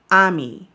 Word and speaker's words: Ami: So the film is focused on Ami, or we would say Amy. They spell it Amy.